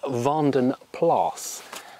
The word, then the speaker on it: Vanden Plas: the pond and so using the flemish dutch belgian pronunciation it is vanden plas any comments saying i've